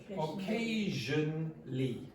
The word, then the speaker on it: occasionally: Yes, don't pronounce that ah sound. Occasionally.